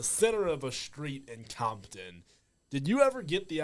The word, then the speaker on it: Compton: we did it uh is it pronounced Compton or Campton over there Campton yeah Jr Rock and